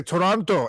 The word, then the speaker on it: Toronto: the locals say Toronto you don't pronounce the last t no they say Toronto e Tonto e who